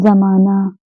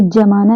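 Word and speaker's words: ज़माना: जा की बात करें तो ये कहते हैं इसे जा है, जैसे यहाँ पे नीचे बिंदी लग जाती है इसे हम बोलते हैं जा। तो इससे बने शब्द बहुत सारे जाएंगे, जैसे जमाना। अब हम इसे जमाना नहीं पढ़ेंगे, ये हो जाएगा।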